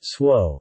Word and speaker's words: Tso: General So's chicken, pronounced swo, is a sweet deep-fried chicken dish that is served in North American Chinese restaurants.